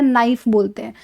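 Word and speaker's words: knife: कनाइफ तो नहीं बोलते ना, हम क्या बोलते हैं? नाइफ बोलते हैं। तो उसका मतलब के क्या है उसके अंदर? साइलेंट है।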